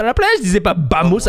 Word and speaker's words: vamos: ça s'écrit Vosotros? Mais quand tu Non, dis mais alors, tous Vamos, les V. c'est Non, Bamos.